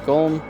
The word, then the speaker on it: Golm: by the last bit which is of course golm much to his prize this ends up being pronounced like Gollum anyway on the side